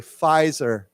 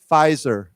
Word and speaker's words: Pfizer: is the this word pfizer is pronounced with an f there's no p we don't say we say pfizer pfizer yeah so it's a